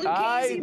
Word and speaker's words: Lucchese: We're founded in Italy, so that's the heritage behind our name.